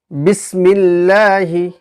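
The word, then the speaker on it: بسم الله: বারিক হওয়ার একটা উদাহরণ আমরা দেখে নেব যেমন বিসমিল্লাহি বা সিন বিসমি লামের মিল বিসমিল লাম খারা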